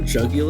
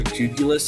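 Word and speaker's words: Jugulis: the teror captains iron jugul or julus however you pronounce it I've heard it both ways um insane mon julus is incorrect just just to be clear jugul is a real word so thank you I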